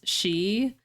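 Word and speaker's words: 四: in Japanese culture cuz she is how you pronounce four but it's also how you pronounce death four is actually my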